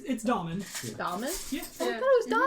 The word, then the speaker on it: Daimhin: It's Daimhin. Daimhin? Yeah. Oh, I thought it was Daimhin. It's Irish, so it's spelled very differently.